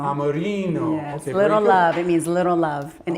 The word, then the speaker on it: Amorino: Amorino. Amorino.